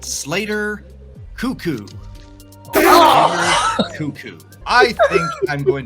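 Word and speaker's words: Koekkoek: This player's name is pronounced Slater Cuckoo.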